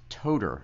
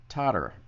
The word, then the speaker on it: Toder: My name is Toder. Last name is Toder, but sometimes it comes out as Totter.